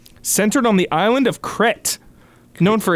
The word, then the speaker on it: Crete: It's Crete for the pronunciation. Crete, yes, Crete.